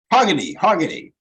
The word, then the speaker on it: Hargitay: How do you pronounce that? Hargitay.